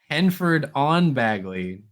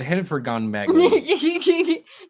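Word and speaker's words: Henford-on-Bagley: you even spell that it's henford Dash on dash Bagley henford on Bagley yeah cuz you said hen for gone Bagley Dion like the hen's gone somewhere and bagley's going to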